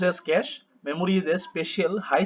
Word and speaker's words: cache: तो देख लेते हैं यहाँ पे कैसे pronounce as कैश memory is a special high speed memory that